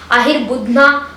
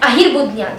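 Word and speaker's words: Ahirbudhnya: Ahir Budna or Ahir Buddha is given by them, or sometimes Ahir Bradra is given by them, as I have read in a few books. But the exact pronunciation according to Bharat Samhita of sage Varahamihira is Ajapado Hir Budhya Pusha Chetishwara Bhanam, which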